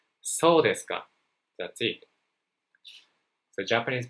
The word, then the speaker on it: そうですか: Be sure not to raise your intonation at the end of the sentence. So you can say そうですか.